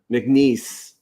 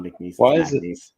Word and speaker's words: McNeese: cares they're FBS um McNeese who I have nothing against me you guys are awesome serious thing about Mac niece you got to say it right it's not making these there's no place get